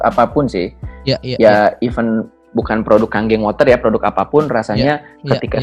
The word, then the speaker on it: Kangen Water: Dan kalau teman-teman mungkin bisa lihat juga produknya itu namanya adalah kalau ditulisnya itu adalah Kangen Water, tapi bacanya adalah Kangen Water ya.